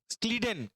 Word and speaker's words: Schleiden: Matthias, MATTHIAS, Matthias स्क्लीडन। स्क्लीडन का बताओ spelling, याद कर लो। SCHLEIDEN। डेन, डेन, डेनमार्क का डेन। स्क्ली, SCHLEIDEN, स्क्लीडन।